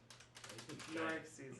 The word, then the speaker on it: Norixes: Norixes. Norixes, that's how you say it.